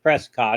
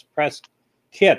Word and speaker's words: Prescott: now and they say you shouldn't pronounce Prescott it's pressed kid or something and then after that